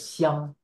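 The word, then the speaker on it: 鄉: So it's pronounced as xiang, the word home. And here is a word that has the same pronunciation with a slight slightly different intonation.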